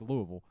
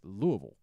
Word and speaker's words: Louisville: But it's sort of like Louisville. Louisville. No, definitely not that, and not Louisville. No matter how many times you try to say it, they will make sure you know it's Louisville. That's Louisville.